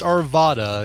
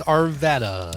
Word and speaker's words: Arvada: Not to be pronounced Arvada. It's Arvada. Ah, like Nevada.